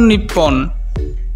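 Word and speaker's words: 日本: জাপানি ভাষায় এই শব্দটির উচ্চারণ নিপ্পন।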